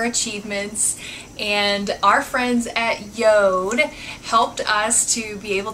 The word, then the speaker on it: JORD: that it spelled George Jo Rd but it's pronounced Yoda it's actually a Norse word that means earth